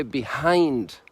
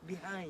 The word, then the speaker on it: behind: it no behind no in english you say behind behind and the the french don't say the h they don't say the